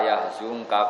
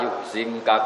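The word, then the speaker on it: يحزنك: Tapi kalau Imam Nafi' bacanya fala yuhzinka qauluhum. Jadi ngikuti mutaaddi karena mazid apa? Ikutkan wazan apa? Ahzana yuhzinu. Tapi kalau kita ngikuti qiraah yang khazana yahzunu sudah mutaaddi apa? Binafsi, makanya kita bacanya fala yahzunka qauluhum bukan fala yuhzinka.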